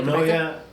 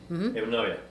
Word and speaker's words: Enuoia: Okay, Enuoia, we pronounce the same thing. Sí. Already tell the name. Enuoia.